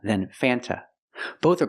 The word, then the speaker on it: Fanta: root beer in America would you not pronounce the word Fanta it is pronounced f f use the short a sound before the N it changes a little bit it becomes a little more nasal in your nose f f f f